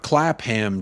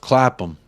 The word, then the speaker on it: Clapham: for Tottenham Hotspur fans it's not Clapham Jacob it's pronounced Clapham Clapham I barely know them